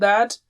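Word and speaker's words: ث: So if this is teeth and this is the tongue, you touch the tip and blow with a light sound like tha.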